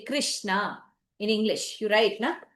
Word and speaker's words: Krishna: Krishna. This name grossly mispronounced. Why? Because nobody pronounces this correctly, and when you don't pronounce this correctly, this also does not get pronounced correctly. What happens is, if you make this a talavya shakara, you say krish, then you don't end up saying the na, you will end up saying the na.